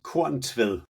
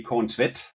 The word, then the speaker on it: Korntvedt: Well, in Danish, it's Korn Tved. In Norwegian, all Norwegians would put an extra T at the end for some odd reason, so that would be Korn Tved.